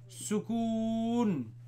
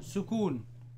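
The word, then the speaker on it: سكون: regular and if regular regular wha-what do you pronounce this you call this a leaf sukoon so servicing a leaf severe oh you say sukoon sue calf well-known sukoon yeah sukoon Wow sukoon so remember the word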